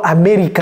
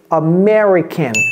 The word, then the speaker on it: American: n'est pas américain américain j'entends amerriican non c'est villageois ça ne dites pas American hein c'est American am American American amican